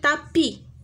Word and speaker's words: tapis: Et S. Ne se prononce pas. Ma كتقراش هاد الاس. Un tapis.